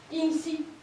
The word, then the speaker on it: in situ: Puis d'abord on dit in situ. C'est du latin. Mais non, c'est pas du latin qu'on prononce comme du latin, c'est du latin passé dans le français qu'on prononce comme du français.